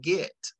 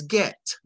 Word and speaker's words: get: I as a college graduate and a resident of Virginia, I was saying "git," G-I-T, as Black folks pronounce "git." Uh-huh. And he would, I'd learned the correct pronunciation was "get."